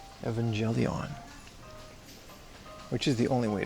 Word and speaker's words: Evangelion: Evangelion, which is the only way to pronounce it.